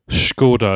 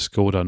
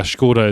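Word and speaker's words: Škoda: Skoda is the actual pronunciation from what I understand. I called it Skoda normally, but yeah, Skoda is correct.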